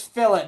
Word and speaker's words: fillet: It's fillet, by the way. Oh, flet. It's fillet. That's how you pronounce it.